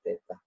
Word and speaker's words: theta: Untuk suhu ya dimensinya theta, ini bacanya ya, dibaca theta.